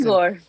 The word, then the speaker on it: Igor: Like, it's Igor. It's pronounced Igor. I thought it was Igor.